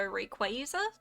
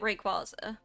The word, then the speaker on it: Rayquaza: or like I I feel like I've sequa, but I guess like maybe some people go Rayquaza. You were like, "But how?" Yeah, that's There are definitely like some pronunciations where I'm like, "How the have you got that?